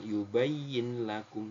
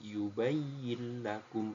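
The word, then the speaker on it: يُبَيِّن لَكُمْ: Muttaqin yubayyin lakum ya yubayin lakum bukan yubayyin lakum tapi yubayakum langsung masuk ke huruf lamnya sama ini juga hudil muttain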